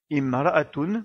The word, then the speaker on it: امرأة: commence par le mot imra'a et donc on prononce bien la voyelle kasra car on ne peut pas commencer à lire ce mot par la lettre mim qui n'est pas associée à une voyelle.